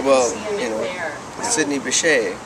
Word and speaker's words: Sidney Bechet: Well, you know, Sidney Bechet.